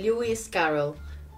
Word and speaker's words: Lewis Carroll: Alicia en el País de las Maravillas de Lewis Carroll así se pronuncia es una edición preciosa como podéis ver